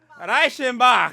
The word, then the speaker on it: Reichenbach: Now, anybody here phonetically can say the word Rickenbaugh, but phonetically, anybody know how that's said? Reichenbach. That's it.